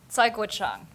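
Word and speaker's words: Cai Guo-Qiang: I have no shame um how do you pronounce Kai Gan okay saang thank you it's tough It's a tough name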